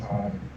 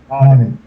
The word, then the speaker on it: Auden: It's pronounced Auden. What? Auden. That's easier to say. Auden. Okay. Like audio should place the O and N.